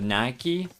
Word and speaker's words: Nike: languages right for instance you have words like Mike and then Nike how on Earth would you get from how the word is written that Nike is supposed to be pronounced like that when you have a pike Mike you know just a single letter changes and all of a sudden that the entire word sound changes to you there's a